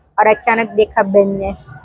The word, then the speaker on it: beignets: वहाँ का बेने ये फ्रेंच आइटम है, उसका स्पेलिंग है BEIGNETS, बट उसको बोलते हैं बेने।